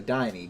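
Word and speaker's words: Diné: interesting dean or deeney dine pronounced with a long e so diney danny denny okay found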